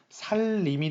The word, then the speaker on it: 삼림: 이것은 우리가 발음이 어떻게 됩니까? 삼림이 됩니다. 다시 미안합니다. 살림이 됩니다. 살림.